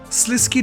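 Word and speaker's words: Sliske: He's also very close to my heart due to me pronouncing his name Slisk when I made my first ever lore video, which basically got me cancelled by half the viewership.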